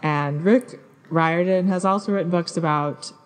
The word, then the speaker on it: Riordan: Rick Riordan's books, which are pretty apparently sure it's pronounced Riordan.